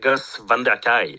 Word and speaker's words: Gus van der Kaj: I should note as well that Gus van der Kaj, I don't know if I'm pronouncing that correctly. We pronounce it Gus van der Kaj. Very good.